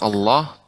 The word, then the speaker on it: Allah: inaco telah Iwa Khair untuk pengucapan Allah ya lebih ini termasuk ucapan ketika mengucapkan Allah tebal ya tapi ya vakuola